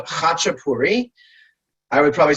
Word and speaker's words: khachapuri: the market um and the dish is called hachapuri i would probably spell it h-a-c-h-e-p-u-r-i hotchapuri and the hachipuria just put an a at